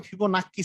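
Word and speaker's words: Fibonacci: চলতে থাকে এটাকে বলে ফিবোনাকি সিরিজ এভাবে করে যে চলতেছে যে সিরিজটা এটাকে বলে ফিবোনাকি সিরিজ ফিবোনাকিও বলে ফিবোনাও বলে হ্যাঁ দুইটাই উচ্চারণ আছে সমস্যা নাই ফিবোনা মানে ছোটবেলায় আমরা পড়তাম ফিবোনাক্কি সিরিজ মানে আসলে আমরা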